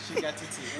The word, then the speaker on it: Shugga Titi: Stick and stay while we talk to the lady known as Shugga Titi. Did I get the pronunciation right? Yeah. Shugga Titi.